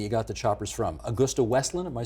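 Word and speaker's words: AgustaWestland: this Italian company you got the Choppers from Augusta wesland am I saying it right correct is that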